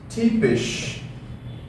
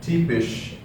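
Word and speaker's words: typisch: uh typical the word typical in English is tipish okay tipish so T fish we have the Y here right so that's exactly why Y is e so this becomes T fish okay which is the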